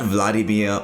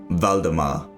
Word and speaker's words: Valdemar: the warn and only king valdemar not vladimir or vladimir as many might think it is pronounced valdemar he and his king's